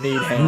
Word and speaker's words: Needham: Oh, need ham.